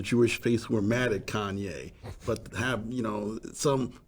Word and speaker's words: Kanye: saying post affected boys never said this name right to begin with it's Kanye you know it's like geez if you're gonna say your name say it right it's Kanye West okay interesting I think